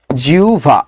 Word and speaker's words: জিহ্বা: ব্যাং এসেছিল ওকে জিহবা জিহ্বার উচ্চারণ বলেন জিউভা কি হবে বলেন তো জিউভা কি হবে জিউভা আহবান কি হবে বলেন